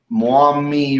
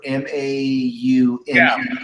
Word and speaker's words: Maumee: Okay, Firestorm says that Perrysburg is northwest Ohio, just south of Toledo, just over the Maumee River, M-A-U-M-E-E.